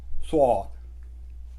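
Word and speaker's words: ص: सौद, आपका मुंह गोल बन जाता है, सौद, थोड़ी भरी हुई आवाज़ होती है, सौद।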